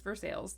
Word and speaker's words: Versailles: that word versales Kentucky and it's literally versailes yeah but they've just said nope it's versales that's what we call it and it's in Kentucky